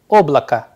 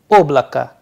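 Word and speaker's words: облака: the first word here oblaka oblaka here again the sound at the end is coming as a in place of o and here the stress sign play a vital role that is why the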